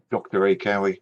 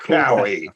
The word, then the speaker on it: Dracowie: That's not how you say it. That's not Cowie. That's the way to say it. It just makes me happy every time someone says, that. You're Dracowie. Yeah, it sounds cool.